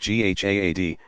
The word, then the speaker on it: jihad: what is jihad you jehad pronounced GHA ad comes from an Arabic